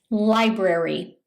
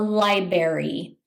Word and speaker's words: library: Library. Some people mispronounce this by calling it a library.